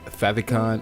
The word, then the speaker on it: favicon: I've got logos and fav icon or favicon however you want to pronounce that it's your favorites icon